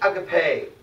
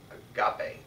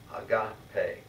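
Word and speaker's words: ἀγάπη: vocab i'm in 5.1 hey i can pay or as you often hear it pronounced agape but god you can see the emphasis is on that alpha a god pay late Thea truth lacia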